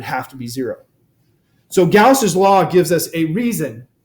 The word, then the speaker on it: Gauss: gaus a lot of people see it and pronounce it wrong it's gaus I've heard people say gauze but it's Gus make sure we're clear on